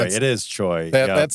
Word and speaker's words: Choi: You say the name wrong and then I make fun of it. Choi. It is Choi.